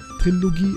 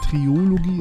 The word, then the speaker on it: Trilogie: Trilogie, also ich sag's, also ich meine, ich sage immer Triologie, es heißt Trilogie.